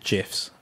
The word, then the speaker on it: GIF: the uh the uh stuff about how you pronounce the word gif the original creator insists that they should be called gifs yes we should have spelled it with a j i woke up to